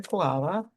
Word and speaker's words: Kiwala: So my guest today is Kiwala.